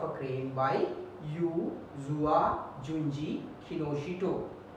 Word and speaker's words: Kinoshita: We pronounce it as Kinoshita, but we write TA.